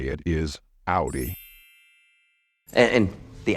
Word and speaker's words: Audi: either or or however since this is a German word we adopted the way it's pronounced in German so the correct way to say it is Audi and and the Audi it's more practical he's